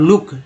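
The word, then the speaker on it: look: हो रहा है, और लुक, है ना, एफ L double O डी फ्लड, और एल डबल ओ के लुक में डबल ओ का उच्चारण ऊ के रूप में हो रहा है।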